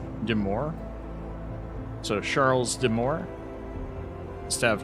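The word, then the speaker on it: de Maure: And Deir is pronounced more like Deore. Deore.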